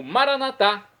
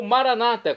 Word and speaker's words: maranatá: E agora eu clamo maranatá, como dizemos nós católicos. ou maranata, como dizem nossos irmãos separados, os evangélicos ou protestantes.